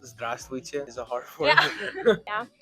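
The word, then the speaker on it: здравствуйте: Yeah, formally would be like zdravstvuyte.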